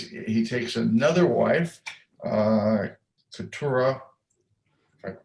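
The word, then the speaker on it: Keturah: is now takes he takes another wife uh katura i pronounced it right right you are ah and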